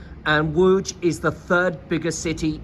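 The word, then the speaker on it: Łódź: I've come down to see a city called wo it's spelled l o d z and woj is the third biggest city in Poland now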